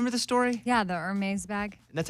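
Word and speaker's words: Hermès: the story yeah the armées bag that's how you say it I think so it looks like Herms but it's like err me so in this New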